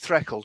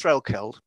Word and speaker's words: Threlkeld: And he was staying there, and he was staying at a place called, the Cymrys pronounce it Threkeld, but it's Threlkeld.